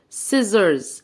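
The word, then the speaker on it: scissors: الجميل اسمه الاثنين طبعا دي الس وبما ان حرف السي جاي وراه اي يبقى برض هنطق الس يبقى الاثنين هنطق كانها الس واحده يبقى السي سز سزر سيزرز سيزرز قولها تاني معايا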